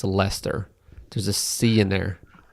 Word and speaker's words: Leicester: Lester that doesn't make any sense that it's Lester there's a SE in there it's leester well I guess I'll it's spelled Laker Lester ler well can you say